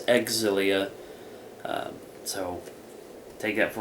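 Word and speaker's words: Xillia: that one right uh I saw online a lot of people were saying and it's not zilia it's exilia um so take that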